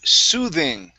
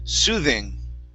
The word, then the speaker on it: soothing: Next up, okay, we have the word soothing. Okay, make sure to use your tongue and your teeth for the TH sound. Soothing.